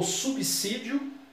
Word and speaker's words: subsídio: O subsídio de muitos servidores públicos são baixos. Subsídio, a mesma coisa que remuneração, salário. O S aqui não tem o som de Z.